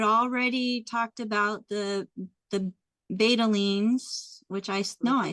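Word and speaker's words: betalains: Um, you had already talked about the the betalines, which I know I said that wrong.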